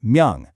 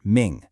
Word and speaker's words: 명: So looking at our table here, the character for bright, that's myung, is pronounced myung, not ming.